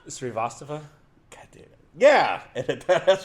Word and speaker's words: Srivastava: Srivastava? God damn it. Yeah, that's Srivastava.